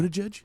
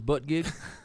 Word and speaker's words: Buttigieg: So anyway, Wait, is that how you pronounce that guy's last name? yeah. Yeah. Yeah. Buttigieg? Yeah, did you think it was butt gig?